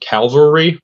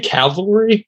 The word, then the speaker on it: cavalry: on it that's called calvary lacrosse club they'll probably kill me because i can't pronounce that word cavalry there we go i am coaching i